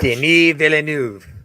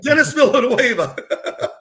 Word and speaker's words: Denis Villeneuve: Is he French? Denis Villeneuve. Denis. Oh, well, thank you. I thought he was Latin descent. I'm like Dennis Villanueva.